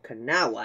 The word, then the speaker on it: Kanawha: This powerful 284 Berkshire, or Kanawha as it's actually pronounced, was built by the American Locomotive Company in Schenectady, New York, for the CNO.